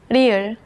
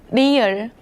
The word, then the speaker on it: 리을: Its pronunciation falls somewhere between the English L and R. Think about this shape like a marble rolling down a track. 리을.